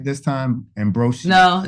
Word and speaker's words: Ambrosius: Ambrosius.